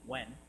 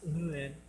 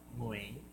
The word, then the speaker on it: Nguyen: Actually, it's pronounced Nguyen. All I know is it's gotta come from your uvula. You know, that punching bag thing at the back of your mouth? Nguyen.